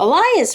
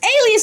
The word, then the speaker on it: alias: that's your out whoa elias right what how do you say that word elias alias alias is the right name i said elias bro my brains my